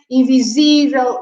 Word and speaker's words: invisível: And again, the stress is on the accent. So this is memorável. We put an accent on the A. Invisível. We put the accent on that I. Acessível.